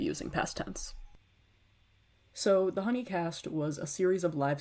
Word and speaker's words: Hoonicast: pronounced Honeycast.